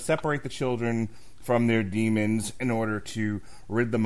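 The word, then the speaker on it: daemon: to separate children from as pronounced demons or demons it in the shows and everything they pronounce it demons but I have absolutely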